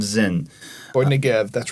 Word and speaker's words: Zin: Is that how they pronounce it? Yes, wilderness of Zin.